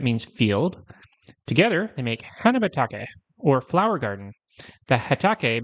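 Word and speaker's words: 花畑: Together, they make hanabatake, or flower garden.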